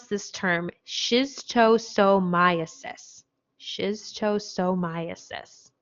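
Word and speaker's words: schistosomiasis: you say this just for fun but we pronounce this term shiz toe so myosis shiz chosomiasis shiz toe so myosis okay so this is also known as snail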